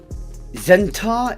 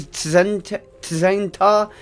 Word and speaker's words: Tzen'tar: The T is silent, which is horrible for someone like myself who wants to say every single letter in a word.